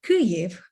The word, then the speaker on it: Kyiv: this word on and put in stress on the first syllable the consonants on the